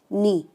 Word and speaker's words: neigh: ठीक है, NEIGH, इसका प्रोनाउंसिएशन बच्चे अच्छे से सीख लेंगे, नी।